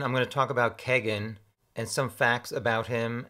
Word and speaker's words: Kegan: klein in an interview his half-brother pronounced his name kagan not keegan so i'm gonna go with kagan like there's a keg in the frat house his nickname is apparently